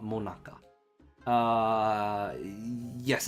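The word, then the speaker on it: 最中: this dessert is called monaka uh uh yes it's pronounced the same as the Monica that we all know and love all right this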